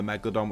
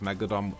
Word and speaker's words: Megalodon: And I've been pronouncing him Megalo for a while just because when you read it, it kind of gives that vibe. And then Don, Megalodon.